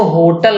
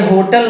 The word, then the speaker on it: होटल: पहली बात तो इसको होटल न कहिएगा, ये होटल नहीं है, इसका प्रोनाउंसिएशन है होटल।